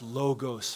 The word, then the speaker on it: logos: John says that the logos, I always get it mixed up because logic, it's actually pronounced logos for the Greeks, for the seminary students who are judging me, who probably aren't even in the room.